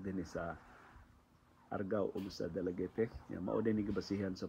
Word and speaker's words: Dalaguete: So sakto di ko nung pagkalitok ani is dalagit dili dalagete. Pero nasa uban mo ingon na ang dalagete ang proper pronunciation parehag dumagete.